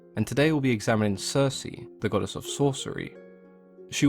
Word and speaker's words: Circe: were latinized and anglicized the hard case sound became a soft C and we now refer to her as Circe she was a daughter